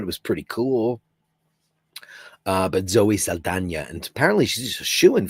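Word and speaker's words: Saldaña: All these years I've been saying Zoe Saldana. It's Zoe Saldana, who's a terrific actress.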